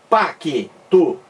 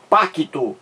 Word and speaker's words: pacto: pacto separação silábica pacto veja que quem pronuncia pacto parece que aparece parece que surge com e aqui ó pá que tu só que esse e não existe não existe na folia e não existe também na grafia então a